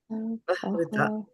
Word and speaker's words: tayāpahṛta: This is tayāpahṛta and not tayāpahṛta. You see the difference there? Pahrita. Pahrita. Not paha. There is no A here for you to say.